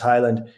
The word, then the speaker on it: Heyland: highland h-e-y-l-a-n-d um it looks halen but it's pronounced highland and on there two gil things outgrow helped